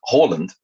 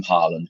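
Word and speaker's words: Haaland: to the extent that erling who's whose name is Halland uh wanted it because he was so sick of it being mispronounced he actually asked people to call him Harland because he wanted the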